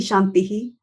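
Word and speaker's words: शान्तिः: the sound afterwards and only the last shantihi is pronounced fully because there is no sound afterwards so this is one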